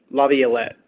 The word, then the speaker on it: Laviolette: Laviolette.